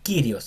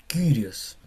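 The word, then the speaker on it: Κύριος: No es Kyrios, es curios. Es como curios.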